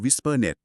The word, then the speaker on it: WSPRnet: งาน สัญญาณ อัตโนมัติ อย่าง WSPRnet อ่าน ว่า Wispernet แล้ว ก็ PSK Reporter